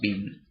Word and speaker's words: Wien: It was Tussilago farfara Wien, W-I-E-N, which I guess is pronounced Bean.